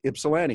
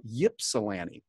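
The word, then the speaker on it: Ypsilanti: a city there called ipolani that's how we pronounce it ipolani it's spilled with a Y and many people look at and call yilani and so little nuances there are all over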